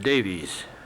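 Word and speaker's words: Daviess: Finally, they accepted a compromise to move instead into 2 new and sparsely settled counties to the north, Caldwell and Davis, pronounced Davies.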